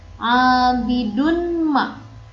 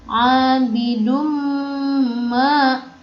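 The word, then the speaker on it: عَابِدٌ مَا: Maka dibacanya bukan abidun ma, bukan, tapi abidum ma.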